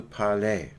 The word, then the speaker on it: parlez: Vous parlez. So it almost sounds like the R is still there.